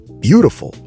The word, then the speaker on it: beautiful: The D itself, the T becomes a D. So instead of saying beautiful, you should say beautiful. Bottle. Beautiful. The D is soft.